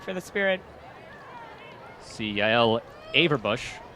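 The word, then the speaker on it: Averbuch: See Yael Averbush right there. I believe I was mispronouncing her name earlier as Averbuck.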